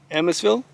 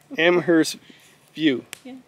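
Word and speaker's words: Amherstview: lives just near kingston i keep not pronouncing it amherstfield and amasville amherst amber hill okay some small town just amherst view amherstville no amherst view okay yeah so she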